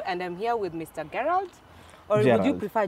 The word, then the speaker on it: Gerald: Yeah, Gerald. Spelled with a G, but it's pronounced as J. Oh, whoa. Gerald.